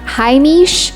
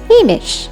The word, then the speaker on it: haimish: and unpretentious or homie not haimish with a long e sound say it simply as hamish judder to vibrate violently